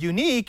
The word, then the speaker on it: Yuneec: Unique, spelled with a Y, is actually the second